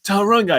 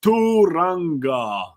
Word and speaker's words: Tauranga: Again, this morning actually I was replying to a comment that someone said, it's not Tauranga, it's Turanga.